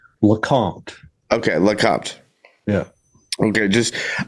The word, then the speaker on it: LeCompte: far into this um correct me on the pronunciation of your last name. Lacant.